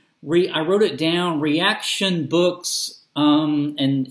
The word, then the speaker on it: Reaktion: I wrote it down reaction books um and it's spelled cleverly react with with the K R tak tion books and I'll put